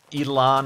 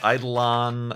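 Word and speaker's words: Eidolon: the games like uh Elon or idolon as I have been corrected as it's supposed to be pronounced idolon uh those Explorations game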